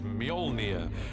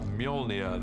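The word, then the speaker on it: Mjölnir: the first challenge with a hammer is to work out how to pronounce it which is molia uh in our movie at the M until somebody corrects me I'm sure they will uh molnia the hammer this awesome uh weapon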